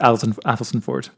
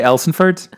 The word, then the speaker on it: Athelstaneford: It's too many letters, too long a word. It's just pronounced Athelstan Ford. You're doing very well in pronouncing it. Thank you. Some people say Elsonford, but I've never heard